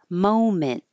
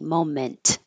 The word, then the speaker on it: moment: Moment. And the T at the end, I put that little mark there to remind you that you hold your tongue in that position without releasing the T. Moment.